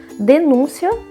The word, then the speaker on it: denúncia: Embora elas estejam escritas de maneira igual, elas têm uma pronúncia diferente. Denúncia, substantivo, e denuncia, que é o verbo.